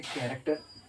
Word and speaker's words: character: Okay, pronounce this chemistry. Okay, जैसे कैरेक्टर, CHARACTER कैरेक्टर, तो सी का अभी आवाज़ क्या हुआ क हो गया।